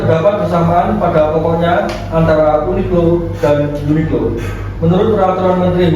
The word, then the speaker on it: Uniqlo: Selanjutnya, dari sudut pandangan keilmuan HKI, Uniqlo dibaca Uniqlo tanpa jeda.